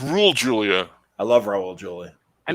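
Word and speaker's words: Raúl Juliá: fighter shame on me his name is pronounced rule julia i love raul julie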